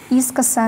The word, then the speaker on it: искоса: Искоса на И.